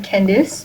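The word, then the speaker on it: Kendis: like a fun fact I'm Candice but my name is spelled like k-e-n-d-i-s so yeah I haven't met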